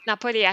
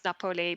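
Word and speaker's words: Napoli: villages in Italy near Napo I had that's word debate missing myself how you should pronounce napoi because apparently napoi is Italian and it's Naples in English but I feel napoi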